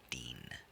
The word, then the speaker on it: Dean: It just has one syllable, Dean.